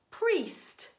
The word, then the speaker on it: priest: And there is an alternative pronunciation for the grapheme spelt I-E, and that is E. Let's read some words together. P-R-E-S-T, priest.